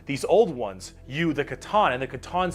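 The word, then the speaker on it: C'tan: Didn't the Now I know it's pronounced katan create the or something.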